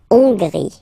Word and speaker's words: Hongrie: So remember, H doesn't exist, so you don't pronounce it. So it starts with O-N, on, and then gris. Final E, not pronounced. La Hongrie.